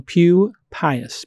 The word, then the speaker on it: Pupius: His name is Daniel Pupius.